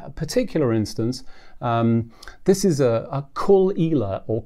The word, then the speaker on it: Caol Ila: but in this particular instance, this is a Caol Ila or Caol Ila, depending on how you want to pronounce it.